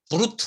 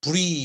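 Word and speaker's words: brut: 야 라고 했죠 부위 브루트 라고 하는데 불이 이라고 발음합니다 우리기 그래서 여기에 당도가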